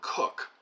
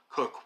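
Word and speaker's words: Coke: In some of the most interesting parts of this book, John Barrie details the influence of Edward Cook, whose name is pronounced C-O-K-E, like the popular soft drink, who is one of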